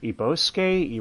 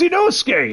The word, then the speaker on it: Inosuke: And Inosuke is trying to teach her how to say his name, and she's like, Ibosuke? Irosuke? Like, damn it, it's Inosuke!